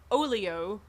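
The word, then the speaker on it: Oleo: saxophonist Sonny Rollins and this is called olio it's almost spelled like Oreo with an L instead of an R that was called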